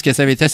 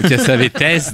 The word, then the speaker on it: Cassavetes: Normalement, je crois qu'on prononce Cassavetes à cause de ses origines grecques, mais on me reproche parfois de dire Cassavetes parce que ça fait snob.